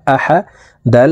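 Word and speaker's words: أحد: আ হা জবর হা আহা দাল দুই পেশ দুন আহাদুন দালকে এখানে এভাবে থামবো দাল যেহেতু কলকুলার হরফ নিচের দিকে ধাবিত করে ধাক্কা দিয়ে সাকিন করে ফেলবো আহাদ আহাদে কুলহু আল্লাহু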